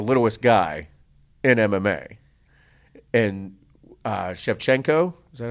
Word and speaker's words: Shevchenko: And Shevchenko, is that how you say her name?